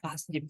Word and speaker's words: Hasjim: Mahaputra Yamin, Tuku Umar, Laode Hairudin, Kiai Haji Hasjim Asmari, Hashim ini. Oh, bacanya Hasjim saya.